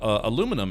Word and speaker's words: aluminum: Did you know that British scientists have acknowledged that the American pronunciation of aluminum is the correct one, and theirs is technically wrong?